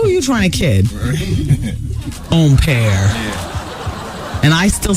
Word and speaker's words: empire: a waistline of a dress and tops, is pronounced empire, which is French. Well, I'm not French, so I'll say empire.